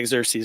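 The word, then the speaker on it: Xerxes: the Persian exes or something anares I can't pronounce his name xeres yeah xeres there you go but whenever they came back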